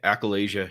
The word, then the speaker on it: achalasia: man and uh am i saying it right accoladia yeah accolasia yeah and so and just so you know